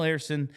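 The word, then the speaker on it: Ersson: up here back up down here now Samuel Arison and I keep saying his name because I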